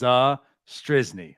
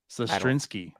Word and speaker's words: Sestrizny: We gotta pronounce that name. It's Sestrizny. I think I'm getting better at it. We're not adding like certain letters to his name anymore. I think we were calling him Sestrinsky.